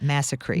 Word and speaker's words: massacree: Alice's Restaurant massacree and that's how you say it massacree Massac what is massacree